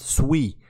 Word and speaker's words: Sui: sui ecosystem and in fact it's not even pronounced sui it's actually pronounced sui I actually found out yesterday when I was